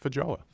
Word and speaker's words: feijoa: It's And a also, are you green- pronouncing that correctly? Yeah, feijoa.